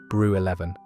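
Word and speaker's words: Brew XI: Its most famous ale was brew 11, pronounced brew 11, a strong traditional bitter whose slogan proudly declared it was for the men of the Midlands.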